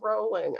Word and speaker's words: Rowling: It's Rowling.